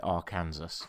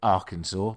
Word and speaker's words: Arkansas: I ever spoke about Arkansas I called it Aransas cuz that's how it's spelled phonetically and I still don't quite understand how anyone ever managed to come up with Arkansas but that's the place that it is uh